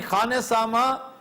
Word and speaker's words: खानसामा: खानसामा खान ख वाओ ख्वान जिसे मिस प्रोनाउंस किया जाता है कि ख्वान नहीं है खान है खानदगी होता है ख्वांदगी नहीं होता ख्वा सामा का मतलब